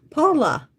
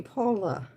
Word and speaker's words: Paula: Paula. Like Paula Abdul. Paula. Okay. Because it's spelled in the Brazilian way, but in English we would call you Paula.